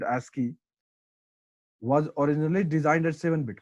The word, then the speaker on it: ASCII: Another 8-bit code known as American Standard Code for Information Interchange, pronounced as ASCII, was originally designed as 7-bit code.